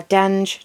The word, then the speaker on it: Denge: I I would have pronounced it dang, but I've just heard Denge, so I'll go with that.